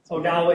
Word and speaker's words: Odawa: Is Odawa the same thing as Ottawa? Yep, pronunciation. I've been called worse, so call me Ottawa, I don't care, but it's Odawa is the proper, the native.